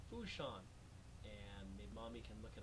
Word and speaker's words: Fourchon: job where we are it's a port called foo Shan and mommy can look it up on a